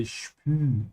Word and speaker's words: spüren: Oh Mann, ich kann den Stuhl schon spüren. Spüren is to feel. Again, here we have an example of an SB sound, so make sure you say spü.